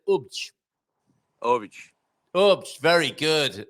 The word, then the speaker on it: Obidos: Do you say Obidos or do you say Ubj?